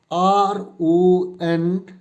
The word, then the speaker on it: rendezvous: So this particular word is pronounced as RONDEIVOO.